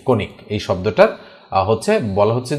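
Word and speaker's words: conic: সি ও এন আই সি উচ্চারণ হচ্ছে কণিক।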